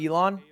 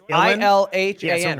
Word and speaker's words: Ilhan: aoc can carry this am i saying it wrong is it not elon what is it elon it's ilhan right name yeah elon somebody